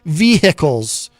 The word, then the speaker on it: vehicle: Those of you listening in your vehicles. And if you're new to the show, by the way, you heard me correctly. I do insist on pronouncing the H in the word vehicle.